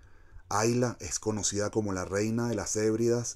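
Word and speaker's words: Islay: se escribe is like pero se pronuncia hay la hay la es conocida como la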